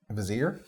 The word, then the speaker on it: Vizier: Vizier? Now it's Vizier. Vizier. 2 syllables. Vizier. Everyone's getting French on a Vizier.